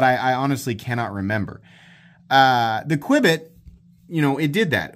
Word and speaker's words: Qubit: might remember me reviewing the new Qubit, as I'm pronouncing it, Q-U-B-I-T.